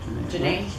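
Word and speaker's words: Jhené: Janae.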